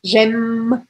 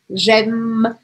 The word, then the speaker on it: j'aime: Olha aqui, não falo o e no final, porque a gente viu isso no começo da aula. A última coisa que eu vou pronunciar é o M aqui, gem, gem.